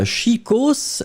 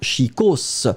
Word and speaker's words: chicos: et bien c'est chicos chicos et on prononce le S final hein chicos quand vous le prononcez